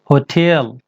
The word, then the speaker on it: hotel: इसको आपको करना क्या है, दो वर्ड समझिए. हो टेल. हो आपको जल्दी बोलना है. हो जो है होटेल, इसको स्ट्रेस वर्ड ये है, इसको आपको स्ट्रेस, इसको खींच कर बोलना है. टेल. जैसे यहाँ पर टेल, वही होटेल. तो होटल नहीं, होटेल.